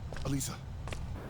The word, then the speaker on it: Alyssa: The only thing we could guess about that is simply that it's the Japanese pronunciation of her name, which is backed up by the SP item forgotten ye, which has her name in Japanese written as Adisa.